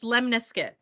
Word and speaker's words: lemniscate: to talk about is called a Lim it's pronounced lemniscuit okay and it looks similar the equation looks